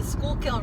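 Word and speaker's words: Schuylkill: actually see the river mom um it's the schoolkill river yeah but it just means full of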